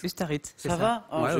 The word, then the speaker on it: Ustaritz: Est-ce que j'ai bien prononcé Ustaritz? Ustaritz, c'est Ça va?